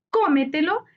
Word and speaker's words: cómetelo: termina en n cómetelo cómetelo es una palabra sobre estructura su sílaba tónica está en co anterior a la ante penúltima sílaba se tilda porque